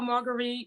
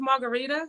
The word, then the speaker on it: Marguritte: she allowed people to call her margarite or Margaret or whatever but me I'm like if my name is Margarita then I I want I want people to call me Margarita even though it spelled like Margarita exactly exactly I agree